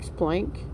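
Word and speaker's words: Planck: It's plank. Okay. Max plank. Remember how to spell it?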